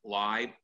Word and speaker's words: Leib: And I want to say that Leib rhymes with five, even though it's spelled L-E-I-B.